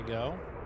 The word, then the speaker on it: Geaux: It's pronounced jho go flying.